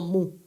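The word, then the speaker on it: 無: carácter chino antiguo que se pronuncia como mu y jarmus cuenta que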